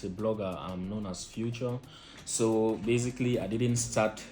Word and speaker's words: Fuchor: my name to be Fuchor as well. So the spelling is actually future, the way you say, okay, present past future.